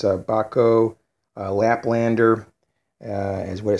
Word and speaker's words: Bahco: the more brand and it's called bako I believe that's how you would pronounce it bah co ba co and these are made